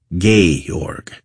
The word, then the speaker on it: Georg: stamp good morrow Georg he greeted me properly pronouncing it gay org if I may so